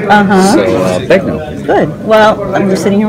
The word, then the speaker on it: Begnaud: It's Begnaud. So Begnaud. It's that French name spelling. The AUD is an O. Uh-huh. So Begnaud.